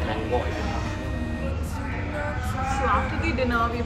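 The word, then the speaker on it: lángos: So after the written Langos but pronounced Langoi.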